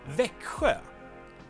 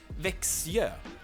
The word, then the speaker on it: Växjö: we spell it with S and J, but someone thought it would be cool to replace K and S with an X which is totally fine